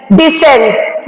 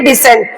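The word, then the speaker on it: decent: पे हम साइकल बोलेंगे फिर है डी ई सी ई एन टी डिसेंट यहां पे भी सी के बाद ई आया है इसलिए हम इसको बोलेंगे डिसेंट फिर है आई सी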